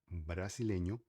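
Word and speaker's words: brasileño: é brasileiro ou brasileira, no espanhol a gente fala brasilenho ou brasilenha, tá? Se refere no caso, por vocês, os primos do Brasil, desse jeito, com essa letra aqui, que seria letra N. Letra N é um N com um tiu. É a única letra que usa tiu pelo fato de ser nasçal. Tá? Tem o som parecido ao NH, tá bom?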